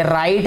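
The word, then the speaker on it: write: होंगे, लिखते होंगे कि राइट जो है वो आर आई टी ई राइट जो है बोला जाता है, लेकिन इसको लिखने में डब्ल्यू आता है पहले, जो कि साइलेंट है, ठीक है बेटे।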